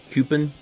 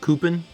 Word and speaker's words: coupon: um pronunciation territory where I say coupon some people say um cpin or copin just's many many many different ways hey says I did